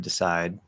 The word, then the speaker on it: decide: That other D at the end of decide, fully enunciated, it would be another weak D.